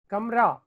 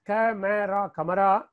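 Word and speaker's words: कमरा: Kamra. Though we will be writing as kamera, but we have to pronounce as kamra.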